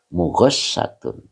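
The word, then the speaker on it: مغشاة: Mughosyatun ini bacanya mughasyat pakai tasdid snya mughasatun ya.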